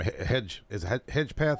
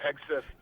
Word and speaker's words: Hegseth: I can't never pronounce the last name. Hedgepeth. How do you say his last name? Yeah, Hegseth.